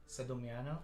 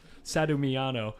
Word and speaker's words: Sedano: say your last name Sedano Sedano okay so I've been pretty close I've been I've been saying it like super americanly sadano sadano yes okay very cool very